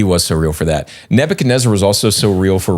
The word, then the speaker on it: Nebuchadnezzar: The person's name rhymes with Snebzar. Snal Gastanzar. It's Nebuchadnezzar.